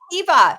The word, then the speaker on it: Heba: I think I've been pronouncing it Heba, but no, you're right. Heba, you were right.